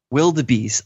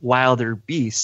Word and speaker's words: wildebeest: Meanwhile, Sam Garrett was honest about his pronunciation by saying it how he spelled it, wilder beast.